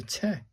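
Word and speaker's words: て: Pronounced just like the T in 10, so it's a te.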